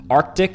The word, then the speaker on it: Arctic: they contain silent letters Arctic is historically mispronounced with people ignoring the first C saying Artic instead and February is slandered